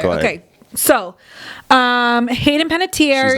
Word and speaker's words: Panettiere: He says Hayden Panettiere. It's Hayden Panettiere, and she's not my top, right?